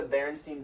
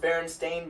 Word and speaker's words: Berenstain: that one so like you remember like the Berenstein bears yes yes actually pronounced berenstain bears but nobody remembers that and like there's